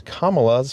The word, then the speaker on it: Kamala: Also, Trump seems to be unwilling or unable to correctly pronounce Kamala's first name. Think of the punctuation mark, comma, and then say la, Kamala.